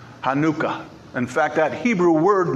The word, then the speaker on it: Hanukkah: celebration of Hanukkah or if you really want to get technical in the Hebrew pronunciation of it is Hanukkah Hanukkah in fact that Hebrew